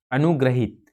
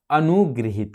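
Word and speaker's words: अनुगृहीत: अशुद्ध शब्द होगा। इसका जो शुद्ध शब्द होगा अनुगृहित। क्या होगा? अनुगृहित।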